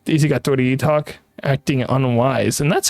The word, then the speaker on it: doitietok: Anyway, how is your name pronounced? Daisy got Doity talk. Acting unwise. And that's how I pronounce my name. I am Doity talk.